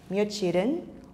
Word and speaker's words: 며칠: 표현입니다 그렇다면 여기 있는 며칠은 언제 사용하는지 알아볼까요 사실 며칠은 없는 나누입니다 며칠은 중학에 발음한다면 몇 일이라고 발음이 되어야 하는데요 며칠이야 며칠 뒤에 며칠 동안 모두 우리는 며칠이라고 발음하죠 그래서 모두 며칠로 통일해서